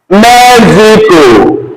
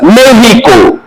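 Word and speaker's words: México: Then I have Mexico, right? You guys say Mexico, but in Spanish there's nothing like Mexico. The word is pronounced as Mexico.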